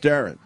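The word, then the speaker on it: Deron: So I'm getting shit because I said Duran, I think, and it's pronounced Darren.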